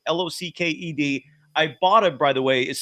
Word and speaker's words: Ibotta: can earn cash back with Ibotta on every shopping trip.